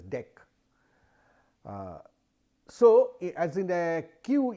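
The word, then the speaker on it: deque: typically ah i mean many people pronounce it as deck so as in a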